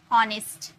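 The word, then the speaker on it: honest: तो यदि किसी वर्ड में एच के बाद ओ हो हो, तो यह साइलेंट हो जाते हैं। एच के बाद ओ रहता है ना तो यह साइलेंट हो जाते हैं। ऑनेस्ट। अब एच हम लोग यूज किए क्या यहां पर?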